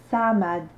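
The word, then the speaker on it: صمد: Alors attention, j'ai pas dit Samad, j'ai dit Samad. Notez bien la différence. Samad, là c'est la lettre sin Samad.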